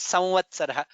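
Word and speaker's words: संवत्सरः: I mean, while it is while pronouncing, most people also say samvatsaraha. Samvatsara. It is correct also. Doing the right pronunciation is samvatsaraha.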